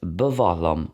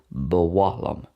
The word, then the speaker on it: ba mhaith liom: which is I like, and bavahlam, which is I would like or I want, bavahlam. That can also be pronounced with a W sound as well, bawahlam.